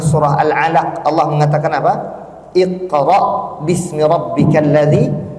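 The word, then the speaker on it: اقرأ: alalaq Allah mengatakan apa Iqra bismibbik q itu Hamzah di ujungnya itu bukan Ain Adapun surah alqariah itu Ain bukan Hamzah Dan kita pun harus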